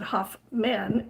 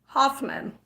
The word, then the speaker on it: Huffman: croak I know well my name is actually Huffman but we pronounce it Huff men and I'm sure it's actually pronounced hufman and I do get a lot of hofman which just spelled with the U whatever so um would